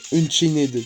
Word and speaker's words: Unchained: c'est qui dit ça quoi bref Bah après un chained, tu peux pas dire ça.